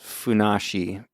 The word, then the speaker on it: Funassyi: I also found some really fun lore about Funassyi. Okay. His parents are just normal pear trees, and it's the fourth of 274 children. Okay. Apparently, there's something about 274. You can pronounce that as Funassyi.